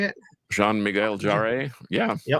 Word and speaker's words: Jarre: Jean Miguel Jarre. Yeah. Yep. That's what I said. Um I'm not sure if the Jay and Jarre is Jar or how you do it, but in any case, Michael Jerry.